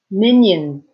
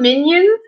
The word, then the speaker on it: Minions: Minions. So although minions end with an S, when you pronounce it, it almost sounds like a Z, right?